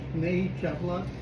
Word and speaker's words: Snehee Chaplot: We are having a tremendous talk here with Snehee Chaplot.